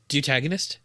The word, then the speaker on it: deuteragonist: Deutagonist? Well, the pronunciation is DU with an umlaut dash T upside down E dash RA dash G upside down E dash NIST, which is why I was struggling with it.